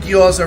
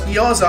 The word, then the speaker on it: gyoza: Oh, you were saying gyoza wrong. Yeah, it's gyoza. I know a lot of people call it gyoza.